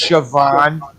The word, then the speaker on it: Siobhan: where a girl's name in irish uh it's pronounced siobhan but there's not a goddamn baby in the